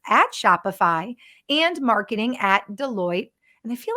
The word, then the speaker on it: Deloitte: Is it Deloitte?